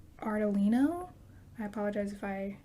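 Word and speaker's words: Ardolino: by emil i think his last name is pronounced artelino i apologize if i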